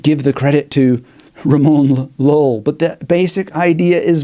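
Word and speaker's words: Ramon Llull: I know some people want to pronounce it you or whatever because of the double L. Let's just go with Lull for ease of people reading that word on the screen in the year that I'm recording this.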